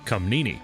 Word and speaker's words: Comnena: Google says it's pronounced Comnini, but I've been saying Comnena in my head this whole playthrough, so that's what I'm sticking with.